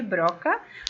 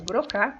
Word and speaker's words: Broca: frontal, que é a área de Broca, ou Broca, tem algumas literaturas trazem essas duas pronúncias, a pronúncia, porque a escrita é a mesma.